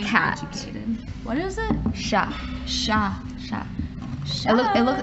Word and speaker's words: chat: It's spelled like chat, okay. But it's pronounced but chat. The T is silent, because exactly. That's how French is. Yeah. It's like, all the T's are silent in that language.